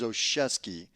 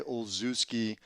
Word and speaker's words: Olszewski: throws people off uh the name is oshewski but the way it's spelled uh it's o-l-s-z-e-w s-k-i it's the polish pronunciation other people when looking at it might say old zeuski or or something like that so it all my